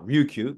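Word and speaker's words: Ryukyu: okan call Okinawa uh the Japanese pronounced it with an R Ruku but okan language doesn't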